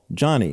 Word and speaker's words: Joni: autobiography which became a movie called Johnny and that's spelled j o n i she was an integral